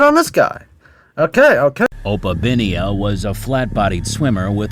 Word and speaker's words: Opabinia: Obapinia. I'm guessing this guy swapped the pronunciation of B with the pronunciation of P and it turns from opapinia to oapinia.